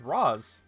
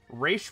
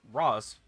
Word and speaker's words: Ra's al Ghul: Apparently, the correct pronunciation is Ra's. Raish was just something that they decided upon for the animated series, but apparently, in its correct language, it's Ra's.